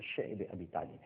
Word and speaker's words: شعب ابی طالب: کا social boycott ہے۔ اور اس کے بعد شیب ابی طالب، جس کو بعض حضرات شعب ابی طالب بھی کہتے ہیں، لیکن جس کا صحیح تلفظ ہے وہ شعب ابی طالب ہے، ایک گھاٹی تھی، آج